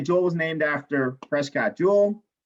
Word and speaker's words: joule: was named after prescott jewel not jewel as in bling bling jewel but j-o-u-l-e okay often people pronounce it jaw okay um so now